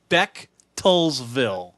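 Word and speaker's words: Bechtelsville: It took me a second because I was like, "Yes, the ch is more like CK," which is kind of funny to me.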